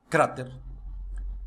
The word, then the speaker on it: cráter: Vejamos: democracia, cerebro, imbécil, imã, álcool, alguien, alergia, cráter, elogio, academia, atmósfera, fútbol, gaucho, límite, oxígeno, régimen. Viu que a sílaba tônica é diferente de como se pronunciaria essa palavra em português?